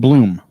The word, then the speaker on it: Blum: I think it's pronounced no, I just lost it. Blah. Steve Bloom. Sorry, Steve Bloom. Bloom. Yeah. Should be an E if it's Bloom.